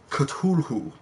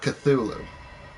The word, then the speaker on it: Cthulhu: we were saying wrong it's actual pronounced Cthulhu not Cthulhu oh and we're restarting